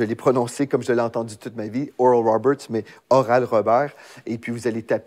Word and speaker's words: Oral Roberts: les rignons de doct oral Roberts donc oral Robert pour les les francophones c'est comme ça qu'on prononce en français moi étant du milieu